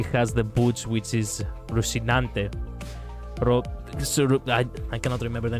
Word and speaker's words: Rosinante: Oh, because she has the boots which is rousinante. I cannot remember the name. Something about some something that rhymes with rinante. I'm not sure. Rosinante boots.